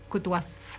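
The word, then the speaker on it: kutuasht: Coutouas, il s'écrit aussi K-U-T-U-A-S-H-T. Puis on dit Coutouas.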